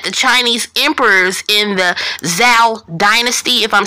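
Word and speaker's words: Zhou: festival is that the Chinese Emperors in the Zao Dynasty if I'm saying it right but it's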